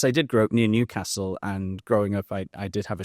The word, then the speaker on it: Newcastle: No, the stress is on the first Newcastle. It's not Newcastle. I thought it was Newcastle. No. It's Newcastle.